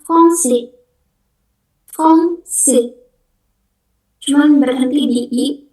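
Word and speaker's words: français: Yang selanjutnya ini bacanya fongsi fongsi cuman berhenti di I s terakhir mau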